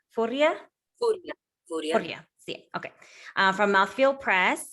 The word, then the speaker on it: Furia: Irene, correct me on the pronunciation. It's Furia? Furia.